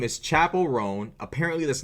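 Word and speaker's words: Chappell Roan: her name forgive me oh it's chapel chapel rone bro bro come the [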